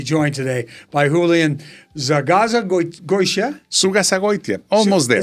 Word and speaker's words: Zugazagoitia: The way I pronounce it, that is not the way my kids pronounce it, is Zugazagoitia. And it is Spanish. Spanish Basque.